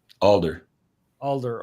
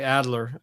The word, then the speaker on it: Alder: Yeah, but Ray, I always get his last name wrong. Alder. Okay. I always say Adler, and I knew it wasn't right.